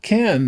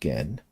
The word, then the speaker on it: Gen: So, it's not Ken, though. It's pronounced Gen.